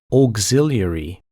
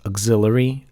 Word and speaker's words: auxiliary: it manually so it took quite some time auxiliary I didn't know what was pronounced like that I pronounced it as auxilary and it's obviously not correct and I've been